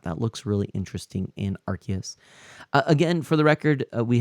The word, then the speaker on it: Arceus: Weaslink says Arceus with the C pronounced like an S.